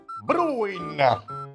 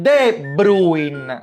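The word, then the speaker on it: De Bruyne: con la B, Bruin. Ma che stai dicendo? Bruin si dice De Bruin. Ma sei proprio ignorante, fra. L'articolo non si pronuncia de Bruin come the best.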